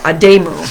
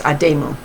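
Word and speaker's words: adumu: called the i'd okay here it tells me how to say it aday mu i pronounced that wrong i apologize adamu during that demo warriors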